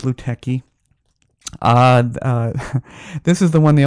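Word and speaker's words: Lutèce: loot tests yeah and I invariably got Luke techie yeah because it's how it's spelled I mean LUT ECE I don't know how people go that way but it's Luke techie this is the one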